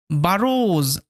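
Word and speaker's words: burrows: আই ক্যান গেট ইট বারজ as well এই যে ওডব না এই ওডব শব্দের শেষে ছিল ওই কারণে কিন্তু ওডবর উচ্চারণটা ও এর মত হচ্ছে বারজ বারস কথার অর্থ হচ্ছে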